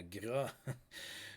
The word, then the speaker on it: Gras: Yeah, Gras. So Gras spelled like that. That's how it's pronounced, by the way, in French.